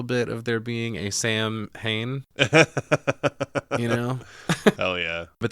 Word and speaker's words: Samhain: the tone for old Sam Hain. What the fuck, man? Come on, dude. It's rather rude, isn't it? Well, the fact that everybody, or, you know, some people mispronounce Samhain as Sam Hain, including fucking Loomis, speaking of Halloween.